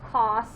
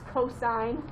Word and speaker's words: cosine: but they say sign it's not cos it's cosine it's not tan tangent i